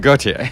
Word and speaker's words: Gotye: I'd just say however you'd pronounce Jean-Paul Gaultier's surname. Mm-hmm. That's how you pronounce Gotye.